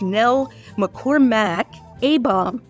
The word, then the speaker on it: Nell McCormack Abom: And I just wanted to say you get an A-star for pronouncing my complete name correctly, which very rarely happens. Nell McCormack Abom.